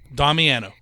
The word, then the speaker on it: Damiano: i'm pronouncing it correctly how do you pronounce it damiano domino like with the heart oh domiano so it's nice domino okay it's like piano that's how i teach